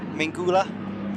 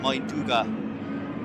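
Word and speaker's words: Mindaugas: It is Mingula. Oh my god, Mainduga. That's how you pronounce it.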